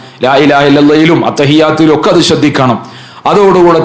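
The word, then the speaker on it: لا إله إلا الله: അറഹ്മാനിയും ഹാവും അതിന്റെ ഉച്ചാരണങ്ങളും ലാ ഇലാഹ ഇല്ലല്ലാഹ് ചൊല്ലുമ്പോൾ കൂടുതൽ ആളുകളും പിഴപ്പിക്കുന്നതാണ് ലാ ഇലാഹ ഇല്ലല്ലാഹു ലാ ഇലാഹ ഇല്ലല്ലാഹ് ഇല്ലല്ലാഹ് ഇല്ലല്ലാഹ് ഇങ്ങനെ അലിഫും ഹാവും ഇല്ലാതെ ഇല്ലല്ലാഹ് ഇല്ലല്ലാഹ് എന്ന് പറഞ്ഞിട്ട് പിഴപ്പിക്കുന്നവരുണ്ട് പിഴവായ രൂപത്തിൽ നമ്മൾ അത് ചൊല്ലിയാൽ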